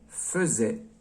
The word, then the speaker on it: faisait: Alors il faisait. Attention, c'est un verbe qui se prononce différemment qu'il s'écrit.